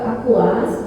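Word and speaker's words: AQAS: Kita kalau ke Aquas yang Jerman itu Akas ya tulisannya Aquas, tapi boleh Akas bacanya, boleh Aquas kata si Patrick yang orangnya boleh itu ya. Tergantung Anda suka yang mana. Padahal bahasa Jermannya Akas itu bacanya Aquas. Nah akhirnya kami berkesimpulan pendidik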